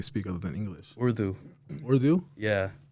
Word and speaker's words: Urdu: Urdu? Yeah. How do you pronounce that?